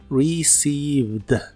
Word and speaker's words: received: en inglés es received no se pronuncia ninguna e en esta palabra solo lleva dos sonidos vocales y son de la i larga received received y usaremos el